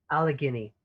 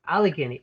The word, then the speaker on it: Allegheny: its missionaries to all of how do you pronounce it a lethargy allegheny allegheny thank you allegheny at any one time there'll be teachers and